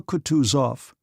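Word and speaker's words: Kutuzov: General Coutus off said Bonsky speaking French and stressing the last syllable of the general's name like a Frenchman has been pleased to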